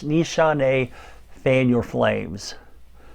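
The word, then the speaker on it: Nishane: dos this one i do know how to pronounce the name of it it's nishante fan your flames right here nishante fam your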